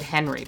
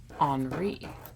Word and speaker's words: Henri: many times i said henry by mistake because it's spelled like henry but in the country where he lived it was pronounced on re okay that's a lot